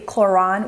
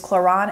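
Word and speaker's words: Klorane: I picked out is the chlon which I was mispronouncing that in my last video it is choron and this is the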